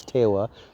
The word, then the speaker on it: Tewa: Terra she Natalie hopefully everyone knows how to spell that and the last name is TOA te w a a beautiful young lady from